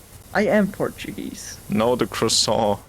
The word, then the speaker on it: croissant: A croissant, as an American would pronounce it.